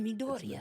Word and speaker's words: Midoriya: You bring Deku, Midoriya, but it is Deku. as well. But yeah, this- Midoriya. Midoriya, I thought it was It's Midoriya.